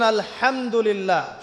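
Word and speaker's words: الحمد لله: আলহামদুলিল্লাহি রাব্বিল আলামিন। এইতো আপনি পড়ছেন আলহামদুলিল্লাহ। শব্দটা কি? আলহামদুলিল্লাহ। এই হা এর মাখরাজ কোথায়? হা এর মাখরাজ কোথায়? বলেন একজন কন্ঠনালীর মাঝখান থেকে এখান থেকে আপনি উচ্চারণ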